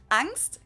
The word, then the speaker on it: Angst: not 100 the same angst capitalized in German and with the German ah basically just means fear